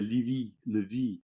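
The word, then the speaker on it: Zachary Levi: Zach Your Levi, neighbor. Megan Fahey. Well, I would say Levy.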